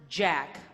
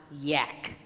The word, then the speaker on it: Jack: And it's pronounced Jack, not yak.